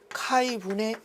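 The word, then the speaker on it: χ: 답은에서 자화의 세기는 카이분의 x, 이거는 카이라고 읽습니다.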